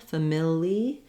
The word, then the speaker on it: familiarity: and then our now because of the change in the rhythm our letter i is going to say the e sound family and then we have the air as our stressed syllable so now the ar does say an air sound rather than just an